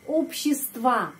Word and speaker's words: общество: dengan huruf O, ya, tapi penekanannya di sini, di huruf O pertama, jadi общество, ya, pengucapannya общество, opinion, atau pendapat, мнение,